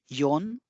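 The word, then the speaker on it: 四: उसके बाद दो के लिए नी, तीन के लिए सान, चार के लिए योन या शी भी कहते हैं, योन या फिर शी, पांच यानी गो, छह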